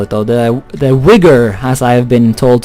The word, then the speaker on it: Uyghur: The Uyghur, as I have been told to pronounce it by my Crusader Kings comment section.